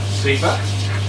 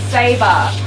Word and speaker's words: Sabre: Zebra? No, Sabre. Saber. It's pronounced Sabre.